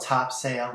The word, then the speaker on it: Topsail: of North Topsail Beach it's spelled Topsail but we call it Topsail Beach and I had